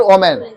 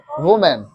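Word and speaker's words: women: वुमेन, नॉट ओमेन, वुमेन।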